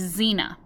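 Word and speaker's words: Xena: name of my chinchilla and her name is zina but you spell it X E and a C in class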